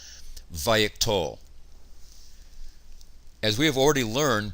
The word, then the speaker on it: vayiktol: The name vayiktol, also called wayiktol in some grammars, comes from the paradigm root katal, and this is how we pronounce the vav consecutive imperfect of katal, vayiktol.